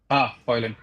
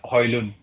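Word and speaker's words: Højlund: Oh, Hoyland. Hmm. It's At this- actually, I've and- heard him say his name, and I think he said it's Hoylund.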